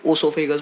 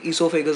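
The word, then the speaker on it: oesophagus: कई लोग इसको ओसोफेगस बोलेंगे, ईसोफेगस बोलेंगे, बेटा स्पेलिंग याद होनी चाहिए। ओ से स्टार्ट होती है, ठीक है। ईसोफेगस ओ से स्टार्ट होती है। जिसको जिस तरीके से बोलना है उस तरीके से बोल सकता है, लेकिन आपको बातें मेरी ध्यान रखनी होगी।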